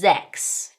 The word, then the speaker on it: sechs: Now specifically at the beginning of words, 's's in German will make 'z' sounds, such as the number sechs (6) (zecks).